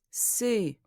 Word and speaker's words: ces: Ces élèves aiment sa façon d'enseigner les mathématiques. The first word is interesting. It is pronounced C.